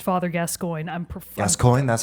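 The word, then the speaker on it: Gascoigne: the ass but I also I know it's pronounced father gascoin I'm preer gascoin that's how we say it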